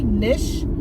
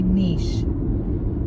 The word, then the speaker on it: niche: it do you say nish or do you say niche niche is like an e sound